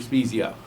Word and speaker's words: Spiezio: Spiezio. Thank you. Am I pronouncing that correctly?